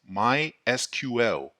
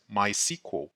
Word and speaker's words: MySQL: The official way of pronunciation is MySQL. It is also common to hear others pronounce it as MySQL.